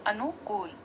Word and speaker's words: अनुकूल: और यह गलत हो जाएगा इस का सही उच्चारण अनुकूल जब हम का के ओमेर सौंफ डालेंगे तो